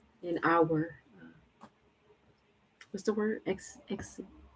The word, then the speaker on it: exegesis: Exegesis? Oh man, I gotta look that up. Yeah, let's see how you pronounce it. I had it right.